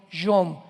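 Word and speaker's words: יום: Y tiempos o días son yom, Y-O-M de mamá.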